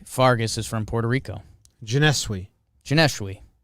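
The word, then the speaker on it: Johneshwy: Janeshwi. Janeshwi. Sounds like a French name to me. It does. Janeshwi. How do you spell it? Jon. So that's the John you were getting.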